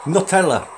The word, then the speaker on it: Nutella: Nutella, N-E-W, or N-U-T. Nutella, sorry. I'll eat it. Sorry to my American subscribing viewers, but it's spelled N-U-T, right? Not N-E-U, so it's not Nutella, it's Nutella.